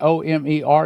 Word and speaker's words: Olmert: The headline comes out instead of O-M-E-R, it's O-L-M-E-R-T, but it's pronounced the same as she heard.